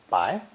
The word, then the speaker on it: 百: the idea of 100, pronounced not with the second tone, but with the third tone, bai.